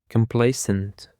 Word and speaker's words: complacent: And for the fourth word, we have complacent. Complacent. The stress is on the second syllable.